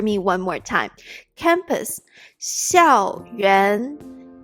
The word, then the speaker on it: 校园: 校园校园校园 xiào means school.